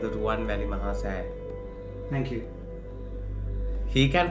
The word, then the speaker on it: Ruwanwelisaya: it is called the Ruwanwelisaya. Thank you. He can pronounce all these French words and everything, but he can't pronounce Ruwanwelisaya.